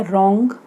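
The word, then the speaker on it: wrong: या ये हो गया आपका रॉन्ग, रॉन्ग में आर आ रहा है हमारा, डब्ल्यू साइलेंट है।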